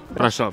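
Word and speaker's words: Brașov: di arrivare San Salvi la mia pronuncia è corretta Brasov Sì sì brava brava siamo finalmente arrivati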